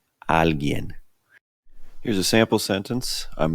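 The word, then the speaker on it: alguien: little difficult to pronounce if you just slow it down at first Al alen here's a sample sentence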